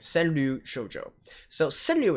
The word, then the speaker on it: 川柳: send new shoujo so send new itself even though it sounds like just two syllables right it actually consists of four especially it sounds at